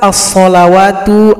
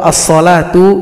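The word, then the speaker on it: الصلاة: pada Quran cetakan Madinah tulisan As sholawatu atau asholatu ditulis sedikit berbeda dengan Quran cetakan Indonesia namun cara baca tetap sama perhatikan rumusnya pada Alquran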